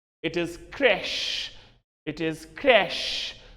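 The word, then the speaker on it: crèche: and remember in fact it is almost murdering of pronunciation when we talk a preschool as a crunch or a crunch it is not crash or it's not crunch or a cringe it is Crash it is c-r-e-c-h-e it is crash it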